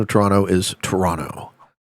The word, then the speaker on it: Toronto: So, um the most common pronunciation of Toronto is Toronto. People kind of uh don't pronounce the second T. Toronto is how they usually do it.